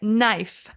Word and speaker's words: knife: words beginning with a silent k like knife or even silent G